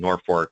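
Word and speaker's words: Norfolk: in uh Norfork um or as they pronounce it Norfork um Nebraska and I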